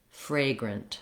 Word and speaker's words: fragrant: in the second syllable we don't say it like a grant we don't have the black cat vowel there we have a schwa there which sounds like uh and we actually i've rewritten the second syllable with no vowel at all just because we barely say a vowel in this second syllable it's short it's reduced it's unstressed it sounds like grunt fragrant fragrant so if i say